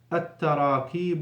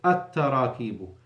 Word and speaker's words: التراكيب: can read after me, التراكيب النحوية. التراكيب النحوية. So on both words, we don't pronounce the lam, because we have a shadda after L.